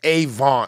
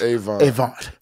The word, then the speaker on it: Avant: There's none of these people without Clarence Avant. He's the first. This and they guy, call him Clarence Avon, is how they say it.